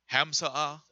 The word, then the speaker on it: hamsa: it post that image real quick how you pronounce the name of it hamsa hamsa so this is a charm which is